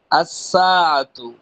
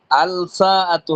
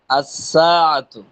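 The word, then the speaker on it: الساعة: লাম যুক্ত করি তাহলে আসসাতু আল সাতু হবে না আল সাতু পড়লে ভুল হবে এখানে কি বলতে হবে আসসাতু এখন পরে আর সামনের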